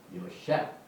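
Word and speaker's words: יוסף: 이 밥이 항상 이렇게 장하고 붙을 때는 이게 뭡니까? 오 발음이 들어서 요 그 다음에 페입니다. 셰프 요 셰프 라헬이 나나지 May he add 하나님께서 그를 더하시리라 그 뜻이.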